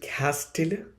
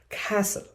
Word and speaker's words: castle: Is it castill? No, it is not castiller. It is castle.